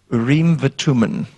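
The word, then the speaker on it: אורים ותומים: And it was called, we pronounce it, Urim and Thummim, but in Hebrew it's called Urim v'Tumim.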